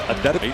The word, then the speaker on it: Antetokounmpo: Here's and nobody has more pronunciations than Giannis Antetokounmpo, but in the pronunciation guide in the Milwaukee game notes, it is Antetokounmpo.